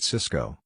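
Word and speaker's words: Sysco: company and Tony bought Cisco the Food Distribution Company both stocks are pronounced exactly the same while Cisco crashed Cisco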